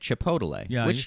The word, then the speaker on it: chipotle: been trying i've been he's been adding an extra syllable in chipotle and making it chipotle chipotle it does sound